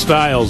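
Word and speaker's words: Stylez: Michaels girls looking fabulous it's pronounced Styles apparently she Styles uh don't let the spelling fool you your girls are very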